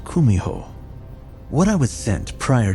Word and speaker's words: kumiho: to achieve in mortality in Japanese you've probably heard of it as kitsun though in Korean it's pronounced kumiho what I was sent